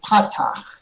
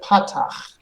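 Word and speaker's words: פַּתַח: And the second one is patach. Together, patach. Pata. Beautiful, very nice. So these both make the ah sound.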